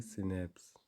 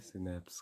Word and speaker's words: SNPs: Pronounce है सिनेप्स। और इसको कैसे प्रोनाउंस किया जाता है, सिनेप्स के रूप में प्रोनाउंस किया जाता है।